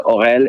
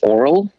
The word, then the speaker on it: Aurel: is they heard how the french would pronounce my name and that is my name exists in french but then the americans would translate the orel into something that reminds me more of that electric toothbrush oral well it is what